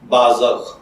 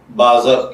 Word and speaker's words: بازغ: اپنے آج کے ٹاپک بازغ کی جانب۔ بازغ کی اردو املا میں جو حرف استعمال ہوتے ہیں وہ ہیں بے الف با، ز زبر غین زغ بازغ، جبکہ انگلش میں اس